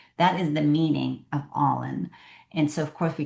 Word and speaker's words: Ollin: after we called it All In, spelled with an O, but it pronounced like when you're all into something.